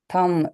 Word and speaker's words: thumb: Thumb, B, same like lamb.